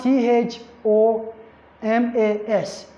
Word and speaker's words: Thomas: it's pronounced as time you have t h o m a s it's pronounced Thomas so you have to